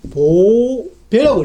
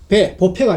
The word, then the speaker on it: 보배: 근데 이건 우리는 음을 읽기를 보배라고 읽습니다. 왜 그러냐면은 이 배는 중국음으로 빼이라는 음을 가지고 있어요. 빼이. 그래서 빼이를 줄이면은 배가 되기 때문에 보는 우리 음을 읽고 요거는 중국 음을 그대로 갖다가 보패가 아니고 보배로 읽는다는 것입니다.